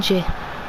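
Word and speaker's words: N'Jie: Clinton J. Voilà comment ça se prononce.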